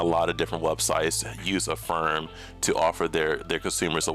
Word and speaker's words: Affirm: I was going to say Affirm. I was pronouncing her like Asana, but Affirm.